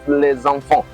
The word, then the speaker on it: les enfants: Now pay attention to the way I pronounce that les enfants. That les enfants there shows that there is a liaison between the les and the enfant.